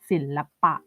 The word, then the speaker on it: ศิลปะ: เมื่อ ไหร่ ก็ ตาม ถ้า รูป สระ อะ อยู่ หลัง พยัญชนะ ต้น เหมือน กัน แต่ อยู่ ใน พยางค์ หลัง เรา จะ อ่าน ออก เสียง อะ แบบ เต็ม เสียง เลย เช่น ศิลปะ ศิลปะ ได้ เห็น ไหม